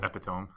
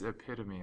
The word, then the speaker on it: epitome: So I thought it was epitome. I was like, I've heard that. I don't know what this word means. I was like, oh, it's epitome.